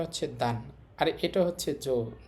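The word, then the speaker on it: 女: পরের উদাহরণটা যদি আমরা দেখি, আবার আমাদের কাঞ্জিটা আছে, তো এটার উচ্চারণ হবে এখানে দান। দেখেন এটা হচ্ছে দান, আর এটা হচ্ছে জো।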